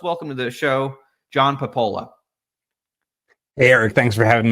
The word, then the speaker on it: Papola: we got on you you are indeed you are pronouncing it the way I have always pronounced it however if you're in Italy they would say papa and they look at you like you have two heads if you say POA when they s so uh all